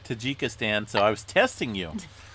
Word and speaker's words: Tajikistan: it was to tajikistan i said tahika you said turd jackie stan but no we ended up looking up i think it was tajikistan it was the proper pronunciation are you sure i